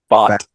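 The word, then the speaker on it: Pfaadt: Fott.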